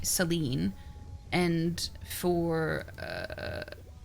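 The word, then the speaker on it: Selene: I would I would have said Gail, you know, or I would have said for Seleni, I would say Seline.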